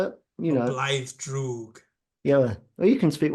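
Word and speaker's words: Blaidd Drwg: Blythe Droog.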